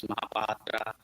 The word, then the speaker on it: Mahapatra: So, like, a lot of patients ask me, how do you pronounce Mahapatra? So, it's just a jargon. So, I say, just remember Cleopatra.